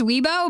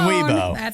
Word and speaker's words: Weibo: social media site called you know how to pronounce it i think it's weibo but it's basically their twitter right so they